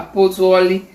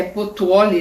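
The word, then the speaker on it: Pozzuoli: Como Paulo quando chegou a Pozoli, aí a gente é Potuoli, né, que é a pronúncia, tinha a impressão de estar em um mundo diferente daquele em que vivera até então.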